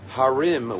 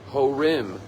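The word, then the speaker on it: הרים: rabbis tell us that the word harim which means mountains could also be pronounced horim which means parents and therefore on a deeper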